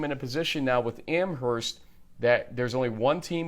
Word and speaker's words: Amherst: Amherst. My bad. I think you pronounce the H.